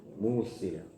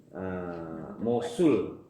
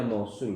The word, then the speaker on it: Mosul: Asluhu fil Musil. Dari Musil ya. Mosul, maaf ya, Mosul. Dibacanya Mosul di Irak ya.